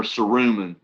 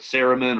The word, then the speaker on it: cerumen: cleanse is acne cerumenous uh ceremony or cerumen i've seen videos that pronounced it both ways okay uh but ceremony or cerumen is the